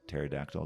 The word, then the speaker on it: pterodactyl: why can't you hear when a pterodactyl goes to the bathroom the p is silent i think that's the